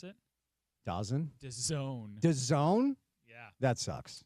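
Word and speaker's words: DAZN: You know how you pronounce it? Dozen.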